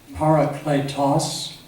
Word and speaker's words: parakletos: It's pronounced, in the old manuscripts, it's pronounced parakletos, the paraclete.